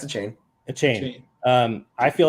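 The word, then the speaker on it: Achane: How do you say it? Yep. Yeah, it's a chain.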